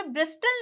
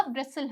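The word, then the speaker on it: bristle: होता कासल होता है यहां पे ब्रिस्टल नहीं होता ब्रेसल होता है ठीक है एक और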